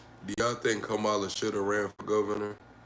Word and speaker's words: Kamala: How am I supposed to pronounce it? Kamala.